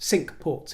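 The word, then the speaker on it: Cinque Ports: sad in French but it's pronounced sink ports here and or alternatively the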